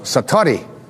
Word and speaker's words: satori: And he had what is called in Japanese it's called, excuse my Japanese, but it's called satori.